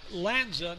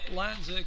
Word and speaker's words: Lanza: Mike Lance is his battery mate. And I think I mispronounced. It's Lanza, not Lance. So let me correct that right away. Again, Michael Lanza catching from Bryant.